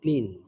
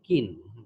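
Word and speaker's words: kiln: Burning of brick done by either ক্ল্যাম্পস অর ক্লিন, এটা ক্লিন না, উচ্চারণটা হবে কিন। আচ্ছা হ্যাঁ, তো এই ব্রিকটাকে ইদার ক্ল্যাম্প অথবা কিনে এটাকে বার্ন করা হয়।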